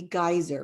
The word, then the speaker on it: geyser: So there are exceptions to the rule, like this could be geyser, right? Where it's a hard G.